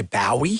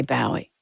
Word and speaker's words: Bowie: Well, they say Bowie? Well, I think the English say Bowie.